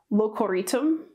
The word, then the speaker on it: Locoritum: Here we have Locoritum. So that's how you pronounce this place name.